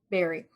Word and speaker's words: Barrie: It's pronounced Barrie, right? Yes. Barrie.